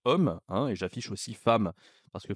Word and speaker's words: femme: hein et j'affiche aussi femme parce que femme voyez c'est quand même prononciation qui est particulière avec le a et donc il faut